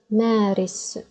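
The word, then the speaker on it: مارس: Let's give it a try and pronounce it. Ma, a, ris, maris, maris.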